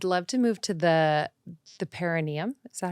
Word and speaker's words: perineum: I'd love to move to the perineum. Is that how you say it? Yes, that's great. I've like not pronounced it correctly this entire pregnancy, but I'm getting there.